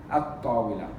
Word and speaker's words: الطاولة: Because you have to put the alif lam. But we don't pronounce the lam because it's shamsiya. الطاولة.